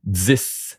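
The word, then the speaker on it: dix: 10, the X is like a S sound. 10.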